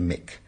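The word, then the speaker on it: Muick: it's spelled mu u i c but it's pronounced Mick and that's in the Lo Nar group I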